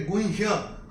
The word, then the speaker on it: गुह्य: और ये जो है ये गुह्य, ह और य, ह आधा और य है, गुह्य, इसको ऐसे प्रोनाउंस करेंगे।